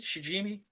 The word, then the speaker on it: Shijimi: Is that how we pronounce it? Shijimi? Shijimi. Yeah, actually, that's one of the few times you guys actually got a new pronunciation right.